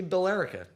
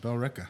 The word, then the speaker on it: Billerica: Like, look, should be Billerica. Nope. Yeah, Bell Ricka. Come to Bell Ricca used cars.